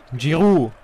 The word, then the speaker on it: Giroud: Wie spricht man eigentlich Giroud auf Französisch aus? Giroud.